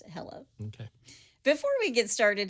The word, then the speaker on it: Helle: her name is Hela h e l l e but it's pronounced Hela okay before we get